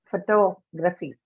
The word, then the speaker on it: photography: uh expiratory because the in photography the second syllable is the one that is stressed and it has to